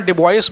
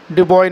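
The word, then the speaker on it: Dubois: डीजू बीओआईएसएस ठीक है तो उस पर डिपॉजिट पढेंगे मैंने कई लोगों को बहुत सुना डिवाइस बोलते सुनाई डिवाइस नहीं सर डिपॉजिट बोलेंगे ठीक है डार्विन या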